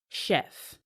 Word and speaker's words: chef: Our key words here, the first one is chef. The chef, though spelled with a CH, is pronounced as SH.